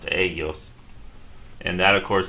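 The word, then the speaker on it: ellos: we're going to add start off with the e l no accent mark this time on the E and add another l and an OS and it's going to be pronounced AOS and and that of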